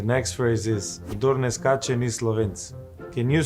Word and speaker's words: skače: It's the sh with the hyphen. Kdor ne skase ni Slovenk.